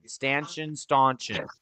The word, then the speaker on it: stanchion: it's pronounced stanchion. There is no U in it.